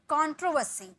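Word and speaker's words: controversy: विवाद, कंट्रोवर्सी, कंट्रोवर्सी, यहाँ पे आर का साइलेंट है, ठीक है, यहाँ पर आर है क्योंकि आर के बाद ओ आपको देखने को मिल रहा है, लेकिन यहाँ पर आर के बाद कुछ भी नहीं है, डायरेक्ट एस का यूज किया गया है, इसलिए यहाँ आर साइलेंट है और यहाँ का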